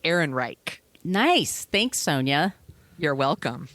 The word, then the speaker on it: Ehrenreich: I want to make sure I'm pronouncing it right. Ehrenreich.